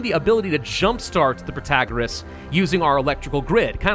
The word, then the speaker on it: Protagoras: Protagoras, that's the way you do it, so you can all stop yelling at me now.